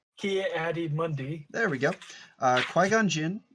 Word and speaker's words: Ki-Adi-Mundi: I don't know how to say his name ki-adi-mundi there we go qui-gon jinn Anakin Skywalker Darth